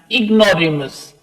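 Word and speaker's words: ignoramus: Sometimes, कभी कभी, ही did feel like an इग्नोरेमस। ये प्रोनाउंस कैसे करेंगे इसको आप?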